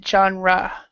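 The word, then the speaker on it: genre: reality telis okay and this one we actually pronounce it johra johra joh johra yeah johra okay excellent um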